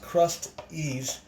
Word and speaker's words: Krusteaz: It's pronounced Krusteaz.